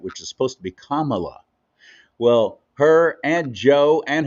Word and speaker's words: Kamala: black um that uh that if you didn't pronounce it exactly right which is supposed to be Kamala well her and Joe and her own husband